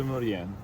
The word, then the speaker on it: Maurienne: Com'è, scusa? Saint-Michel de Maurienne. Saint-Michel de Esce solo Mauritain. la sigaretta in bocca.